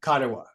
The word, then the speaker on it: Karewa: I've decided to pronounce it mana, like the Maori word mana, because I love that energy. Yes. But Karewa.